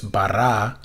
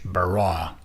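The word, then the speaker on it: ברא: you can just say just don't do the english bra right that's completely wrong that's just english so the original would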